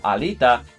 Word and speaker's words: alita: of Alita because the it is a three syllable word now which ends in a vowel meaning the second to last syllable which is going to be Lee is now the one that's stressed so the the phrase